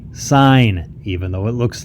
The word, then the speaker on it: sin: this mathematically all right we pronounce it sine of angle a I know it looks like sin of angle a or sin of a